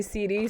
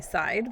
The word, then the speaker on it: CD: But my name is actually CD. Some people across the interwebs call me Side, but CD is the correct pronunciation.